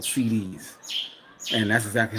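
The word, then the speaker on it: cedis: the currency that they have here is called CDs and that's exactly how it's pronounced c um but they can make money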